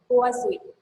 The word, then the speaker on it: Poiseuille: So Google pronunciation says I have to pronounce this as Poiseuille.